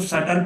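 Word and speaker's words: subtle: Sorry, सब्टल नहीं पढ़ेंगे इसको, सटल पढ़ते हैं, बीच में साइलेंट रहता है, सटल पढ़ते हैं इसको।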